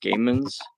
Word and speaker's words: GOMANS: Uh but it's that's how it's That's how it's spelled, but it's pronounced Gammans.